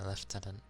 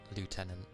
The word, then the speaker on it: lieutenant: I I usually just say like lieutenant, but I know anyone in military thingy usually goes left tenant. Wait, actually I think they alternate. It depends. Some say left tenant, some say lieutenant.